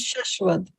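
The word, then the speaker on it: शाश्वत: Yeah, you see here in Hindi, it's Shashwad.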